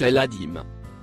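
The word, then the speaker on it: العظيم: Il se prononce El-Adim.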